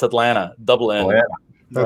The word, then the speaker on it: Atlanta: in atlanta so um yeah people think it's atlanta no it's atlanta dublin yeah that's right it's it's all those